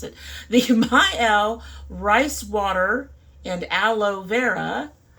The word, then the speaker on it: Mielle: First, we have this Mielle. Yes, I did learn how to pronounce it. The Mielle Rice Water and Aloe Vera Deep Conditioner.